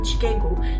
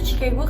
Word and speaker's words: Chicago: Chicago. Jadi itu Chicago kan kalau misalkan dipronounce itu Chicago gitu, pakai K gitu, kayak Amerika gitu kan.